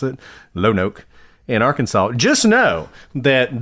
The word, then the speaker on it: Lonoke: So by the way, if you live in Lonoke, I think is how we decided to pronounce it, Lonoke, in Arkansas, just know that this DA needs